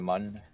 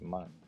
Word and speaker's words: Mun: Does it rhyme with soon or with sun? I think it rhymes with sun because it's mun.